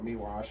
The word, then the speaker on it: Miłosz: So one of them is Miłosz, or Miłosz, I think is actually how it's pronounced in Polish.